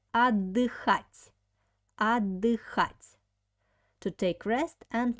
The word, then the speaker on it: отдыхать: Next verb is отдыхать. Pay attention on the pronunciation. We have here t and d together. When we pronounce this word, we don't pronounce t, we pronounce like double d. Отдыхать.